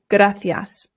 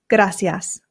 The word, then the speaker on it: gracias: That's because I live in Spain and here in Spain they pronounce the C's with a th sound. F. So this becomes gracias.